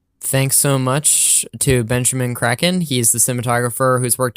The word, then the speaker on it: Kračun: And he was like, it's Kraken, guys, but it's actually Kračun, but actually say Kraken.